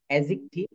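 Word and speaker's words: adjective: Noun, pronoun, অ্যাডজেক্টিভ। আমরা কিন্তু এটা অ্যাডজেক্টিভ বলি, কিন্তু এখানে ডি হচ্ছে সাইলেন্ট লেটার। এই ডি এর উচ্চারণ হবে না।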